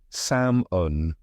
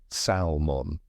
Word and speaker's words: salmon: let's not forget salmon that sneaky silent L trips so many people up here's a tip it's pronounced samon not salmon the L was never